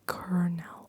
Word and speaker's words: colonel: The colonel addressed the troops.